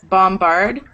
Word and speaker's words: bombard: um exceptions crumble dumbo like when the B is in the second syllable you don't usually say Dumbo but that's the title of a Disney film bombard combine crumble so if